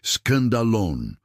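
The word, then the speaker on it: σκάνδαλον: É a palavra escandalone, que se pronuncia escandalon.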